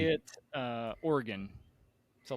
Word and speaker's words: Oregon: uh uh no uh Oregon so like the instrument yeah or the bodily part yep I'm an organ